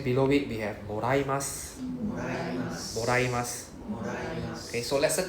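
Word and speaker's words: もらいます: Moraimasu.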